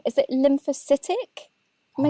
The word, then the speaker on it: lymphocytic: Is it lymphocytic?